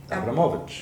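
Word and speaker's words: Abramović: Abramovich.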